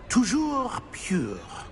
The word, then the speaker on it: Toujours pur: Toujours pure.